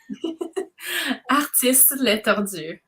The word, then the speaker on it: Artistes Les Tordus: So that's why I was trying, like, it would be Les because LES. And then. Oh, can you say it again? Oh, so pretty. Artistes Les Tordus.